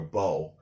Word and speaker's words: beau: You know, we usually say it about a girl, and that's her boyfriend is her beau. And so we still pronounce it the French way.